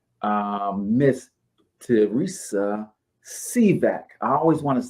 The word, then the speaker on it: Sivak: let's bring up um Miss to Reese uh see back I always want to say your name wrong I think I get it right see back is that right yes that is is correct